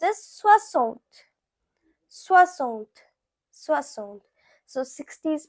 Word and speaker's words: soixante: Now 60, it is pronounced as soixante.